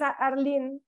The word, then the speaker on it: Arlene: Well, it's Arlen. Written Arlen, but it's Arlene.